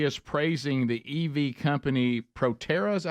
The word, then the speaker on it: Proterra: Here he is praising the EV company Proterra, is that how you say it? Yeah. Proterra, which his own energy secretary was heavily invested.